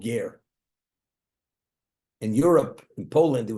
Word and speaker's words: Ger: It's called Ger. In Europe, in Poland, there was a city called Gur, G-U-R. The way it's pronounced, the Jews pronounce Ger, like convert Ger, Ger Hasidim.